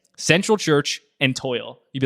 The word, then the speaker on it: TOYL: Yeah, it was Time of Your Life, but it became the acronym TOYL, which is pronounced toil, which yes, I remember you're toiling through life.